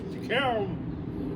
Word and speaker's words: DeKalb: Matter of fact, on the way here, Bob suddenly goes, he looked at the road sign, he goes, DeKalb.